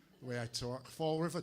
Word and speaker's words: Fall River: the way I talk Fall River two L's two o's we don't pronounce any of them I don't know if